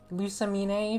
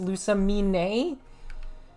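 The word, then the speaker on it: Lusamine: to japanese pronunciation and like lusa mene from pokemon her name is actually pronounced lusa me nay which i'm angry about but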